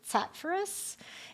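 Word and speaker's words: Charfauros: So my name, Charfurus, just so you know, the pronunciation is Tatfurus.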